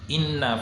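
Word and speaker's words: إنّ: Cara bacanya didengungkan. Harus didengungkan. Kalau yang di atas di sini nun itu bertasdid, berarti itu gunnah. Inna. Nah, itu harus dibaca berdengung. Tidak boleh dibaca inna. Tidak boleh hanya mengatakan inna, tapi harus didengungkan.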